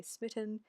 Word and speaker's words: Smitan: And the reason I chose LadySmitan, which actually is meant to be pronounced Smitan, I just prefer to say Smitan, which I'll explain as well,